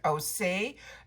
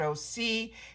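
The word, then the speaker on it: OSEA: But a brand that I can recommend is right beside it, and this is, I pronounce it Osay. A lot of people pronounce it OC.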